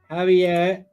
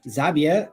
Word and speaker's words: Javier: I'm assuming it's Javier and not Xavier. It's definitely not Xavier when it's a Spanish pronunciation.